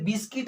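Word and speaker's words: biscuit: हैं यहाँ पर, जैसे बिस्किट आप देखे होंगे, ठीक है, बिस्किट का स्पेलिंग जो होता है उसमें जो है क्या है, साइलेंट हो जाता है यू, ठीक।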